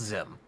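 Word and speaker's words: Xim: There's someone known as Zim the Desperate. Oh, it's spelled X IM, but it's pronounced Zim.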